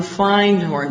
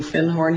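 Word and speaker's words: Findhorn: And he said, I said, "Do you have anything on Fine Horn?" Because I'd found a book called The Magic of Finhorn. And he corrected my pronunciation. He said, "You mean Finhorn?"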